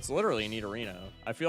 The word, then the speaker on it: Nidorino: I put up with Monoclay, but you can't be saying Nidarino. I draw the line. That's literally what it is. Nidorino. Do you say Nidorino or Nidorino? It's literally Nidorino.